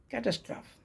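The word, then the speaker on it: catastrophe: जो आपदा है कैटस्ट्रोफी कैटस्टोफी कैटस्टोफी ना कि कैटस्ट्राफ ई लगा है तो आपको लगा कैटस्ट्रोफी पढ़ना चाहिए लेकिन होता क्या है कैटस्ट्रोफ सी ए टी ए एस टी आर ओ टी एच ई कैटस्ट्रोफ कैटस्ट्राफी कैटस्ट्रोफी कैटस्ट्रोफी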